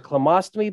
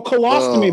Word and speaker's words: colostomy: call a mo colonoscopy yeah what is a clamostomy bag how do you say it oh colostomy bag lost me bag yeah so did you